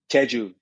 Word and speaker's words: Jeju: the tea grown in, I'm not going to pronounce the name of the island right. Help Yeah. me on this. Jeju.